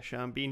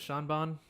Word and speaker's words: Sean Bean: Yeah, Sean Bean. He's like, I've been dead the whole time, but it doesn't Is that how you matter. pronounce his name? Is it Sean Bon?